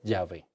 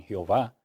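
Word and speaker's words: Yahweh: cuando se reveló abraham que es llave verdad o se pronuncia también jehová porque realmente es una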